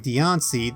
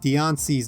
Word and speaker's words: Diancie: you may have noticed the latter part of dion see's name is spelled c-i-e which would theoretically be impossible to write in japanese given that the s-section of hiragana and katakana has a she instead of a c but as it turns